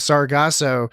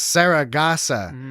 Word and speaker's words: Sargasso: and then he says sargassos yeah well he says yeah and he says it wrong uh shatner uh uh kirk says uh instead of sargasso he says sarah gassa like sarah gossip yeah right he does